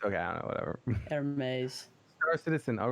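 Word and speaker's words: Hermès: Oh, it's pronounced Hermes. Okay, I don't know, whatever. Hermes.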